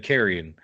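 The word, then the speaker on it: Charon: because in Greek mythology carrion which is spelled different but still said carrion is the the boat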